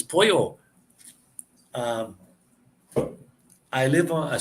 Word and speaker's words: pollo: pollo is chicken, POLLO, pollo. When you get one L in a word, it's pronounced as an L. When you get two L's side by side, like POLLO, it's changed to a Y sound, pollo.